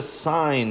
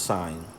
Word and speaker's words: sine: is abbreviated si n it's not pronounced sin no that's what you have you are a sinner it's still pronounced sign anyway so the sign